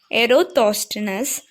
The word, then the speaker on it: Eratosthenes: How to pronounce? Eratosthenes.